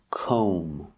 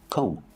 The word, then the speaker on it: comb: we pronounce this word comb o make the long o sound I don't want to hear Kevin making that o sound and remember the B is silent don't pronounce a B comb so comb is a